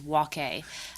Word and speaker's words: Waque: The correct pronunciation is Waque, but there should actually be a accent aigu over the E.